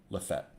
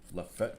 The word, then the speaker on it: Lafayette: know who that is the locals of that County I'm sorry the stupid rednecks in that county claim that that county is pronounced Lafayette yet the word is this